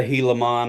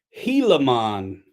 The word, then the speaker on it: Gila: it's a helon I'm you can't put a g in it and not think folks are going to say G Gila man helon the g is silent on like in like one word in the English language or something I can't